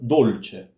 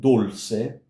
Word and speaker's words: dolce: So dolce, dolce, ch. Not dulce or dulce, no, dolce.